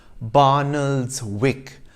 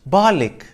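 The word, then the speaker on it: Barnoldswick: town in lancashire that you might think is pronounced barnald's wick based on its spelling is actually pronounced balik and the village in devon which looks like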